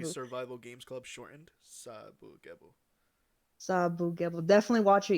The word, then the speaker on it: Sabagebu: Sabagebu.